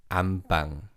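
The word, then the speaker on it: 안방: syllable changes to beam so it's read as am bang bang secondly the second syllable pang is pronounced as bang so rather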